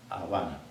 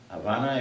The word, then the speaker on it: Habana: Es el caso de Habana. Habana es un nombre de una capital, la capital de Cuba, y está escrita con B alta, pero se pronuncia con B corta.